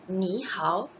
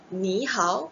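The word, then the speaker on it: 你好: Okey, kalau tengok dekat tulisan, ni hao adalah tone tiga, jumpa dengan tone tiga. Cara baca dia mestilah, ni hao. Tapi, susah. Kalau takkanlah setiap kali kita jumpa orang, kita cakap, ni hao, ni hao. Jadi, dia akan mudahkan yang depan kita akan baca sebagai ton kedua, yang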